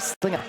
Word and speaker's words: Slinger: The pronunciation of her name is actually Slinger.